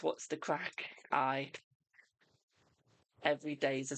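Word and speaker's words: craic: I thought when you say what's the crack in Irish, it's just C R A C K. I didn't realize it's spelled C R A I C.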